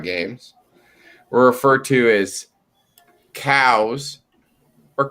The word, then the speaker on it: Chao: it's you know c-h-a-o if you're pronouncing it with a hard c sound it'd be cow right and i'm sitting